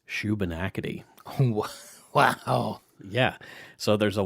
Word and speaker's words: Shubenacadie: Shubenacadie.